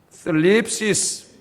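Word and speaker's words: θλῖψις: 자, 여기 환난이라는 말은 헬라 말은 이제 슬립시스. 이 번데기 발음이에요. 번데기 발음. 여러분 TH 발음. 슬립이라고 할지 들립이라고 해야 될지 그 중간 발음이니까 하여튼 뭐 헬라어 쓸 것도 아니고 우리가 슬립시스 그런 말을 번역했는데 이게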